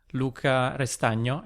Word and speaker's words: Luca Restagno: It's a little bit difficult to pronounce for foreign people, but it's Luca Restagno is the right Italian pronunciation.